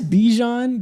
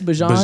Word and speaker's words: Bijan: I guess Bijan just... Wait, are you pronouncing it right? I guess Bijan, my bad.